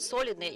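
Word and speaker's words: солидные: The stress on the first syllable in the word solidny is not typical for Russian, but still we have to be correct about that.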